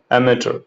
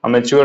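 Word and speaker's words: amateur: इसका प्रोनाउंसिएशन होगा अमेचर, अमेच्योर नहीं बोलेंगे, अमेचर, अमेचर, शौकिया।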